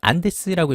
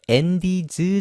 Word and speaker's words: Andes: 그리고 안데스 산맥이라고 우리가 부르는 건데 영어로는 안데스라고 읽지 않고 앤디즈 정도의 느낌으로 읽으면 되겠습니다.